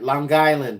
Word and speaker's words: Long Island: else we got here Long Island ah did I say it right Long Island they say it in one set one word it's not two word Long Island yeah hundan